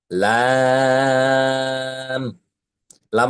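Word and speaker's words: لام: লাম অক্ষরের মাখরাজ হল জিহবার আগার কিনারা। জিহবার আগার কিনারা এবং ওপরের যে বড় দুইটি দাঁত আছে এ বড় দুইটি দাঁতের ডান পাশের একটি দাঁত এবং বাম পাশের একটি দাত। ওই দুইটি দাঁতের গোড়ার সাথে লাগিয়ে এই অক্ষরটি উচ্চারণ করতে হয়।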